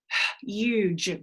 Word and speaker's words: huge: The E will be making the U say you and the G say j. Huge.